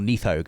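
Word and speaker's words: Nidhogg: Spoiler, Needhog. Needhog as Needhog well. again, yeah. Or Neathog, as they Neathog, pronounce it in the yeah.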